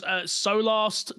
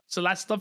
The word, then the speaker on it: Solasta: Next game was Solast 2, or if I said that right, I feel like I said it wrong. Solasta, thank you, 2.